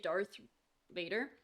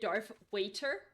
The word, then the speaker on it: Darth Vader: Oh yeah, when I was a kid, I couldn't say Darth Vader. So I said Darth Waiter. Yes, like the person that sells you food and drinks. And Darth with an F. Because I couldn't pronounce it for a really long time.